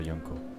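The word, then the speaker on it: Janko: Oh Yann, mon pauvre Yanko. Ça écrit avec un J, mais je le prononce avec un Y.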